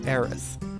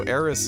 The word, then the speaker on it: Aerith: her name is erith a-e-r-i-t-h and in subsequent media we have gone from away from using the S version of her name to the th up